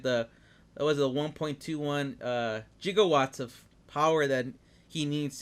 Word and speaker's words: gigawatts: funny it's funny cuz the way he mispronounced is a gigawatts right you want those hard consonants I guess yeah and even mispronounces gigawatts which I think gigawatts works better right yeah you know